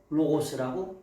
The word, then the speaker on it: ὁ λόγος: 그래서 요거를 읽을 때 요게 뭐예요? 로. 그다음에 기억에 오니까 고. 그다음에 s니까 스 이렇게 읽는 거야. 그래서 호로고스라고 읽는 거예.